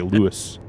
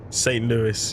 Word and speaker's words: St. Louis: We're in America. But we say Lewis. St. Louis.